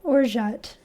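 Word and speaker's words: orgeat: do i i'm very curious how to actually pronounce that or jet i was definitely not saying that right or jut that's how you say it uh now i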